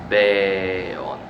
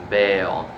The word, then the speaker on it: beon: This is a long air here. Beon. Beon. So if you speak Japanese or Arabic or Latin, you know what I'm talking about. Sometimes the syllable is longer. So beon, not just beon, beon, beon, beon, right?